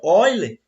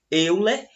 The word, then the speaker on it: Euler: que um matemático chamado Oiler, apesar de se escrever aí, como vocês podem ver no slide, Euler, pronúncia correta é Oiler, certo?